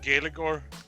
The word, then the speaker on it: Gaeilgeoir: How would you pronounce it differently? Yes, Gaelic-or, I would pronounce it as.